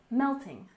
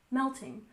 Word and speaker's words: melting: have the Melting Pot we dress the first syllable in melting melting so you know that